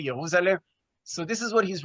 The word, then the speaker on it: Jerusalem: This is in his book called Jerusalem, or probably he pronounced it Jerusalem. In German, you don't pronounce the J, Jerusalem.